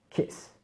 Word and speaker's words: kiss: à heart, parce que kiss, cette fois-ci, on aura vraiment un i court. Un i court. Donc il ne faut vraiment pas insister là-dessus, c'est kiss.